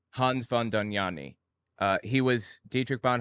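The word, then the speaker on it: Dohnanyi: same reasons same everything doni I think is how it's pronounced was his name Hans Von danani uh he was Dietrich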